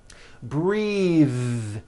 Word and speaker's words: breath: like in bathing suit breathe same thing breath is a noun take a breath unvoiced but when you change